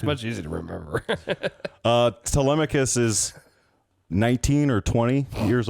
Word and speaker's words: Telemachus: Telemachus is right.